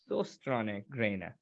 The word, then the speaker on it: Søstrene Grene: We have a letter in the Danish language that is called Ø, and I know that is really difficult for any foreigners to actually pronounce.